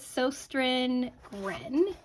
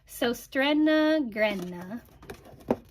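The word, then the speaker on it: Søstrene Grene: to a store called I call it soin Gren but that is horrible pronunciation um the closest that I think I can come come to after Googling it is SOA grna it's dut or it's a Danish company and they do HomeGoods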